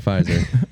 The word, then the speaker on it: Pfizer: by tick tock and pfizer i'm kidding madison's like don't say that word the p word the silent p don't say it the silent p why is that a thing silent letters